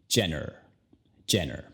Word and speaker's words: Jenner: La J en su apellido, ya sabes, suena como J, y luego al final tienes la R. Entonces, el apellido, Jenner. Kylie Jenner.